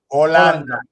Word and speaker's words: Holanda: No, Holanda. Okay, Holanda. H, remember, you don't need to pronounce.